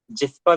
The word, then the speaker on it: Gyspa: Electric project and द जिप्सा। ठीक है, जिस्पा भी आप इसको पढ़ सकते हैं, लेकिन इसका जो स्पेलिंग होंगे GYSPA। ठीक है, तो इसको JISPA भी आप लिख सकते हैं।